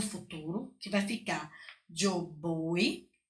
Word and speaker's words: voy: Então, eu conjugo o verbo ir no futuro, que vai ficar yo voy, escreve com V, mas tem som de B, tá certo?